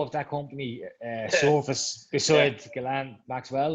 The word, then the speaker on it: Ghislaine: of the CEO of that company surface beside Ghislaine Maxwell, like, so. Yeah. Our buddy Ghislaine, who has disappeared. Is it Ghislaine or Ghislaine? I don't know. Ghislaine. It's Ghislaine.